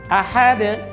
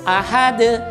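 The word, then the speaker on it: أَحَد: Kesalahan di sini biasanya terjadi, yaitu orang mengganti huruf a dengan huruf a. Huruf hamzah digantinya menjadi huruf ain. Kenapa? Karena kurang teliti. Dia membacanya begini, ahad, ahad, ahad.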